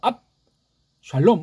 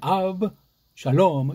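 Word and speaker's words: אבשלום: 아브 샬롬 또는 이걸 앞하고 끊는 발음을 못해. 우린 돼요. 앞 샬롬 우린 돼요. 근데 걔는 아브 샬롬 이렇게 발음을 한다고요.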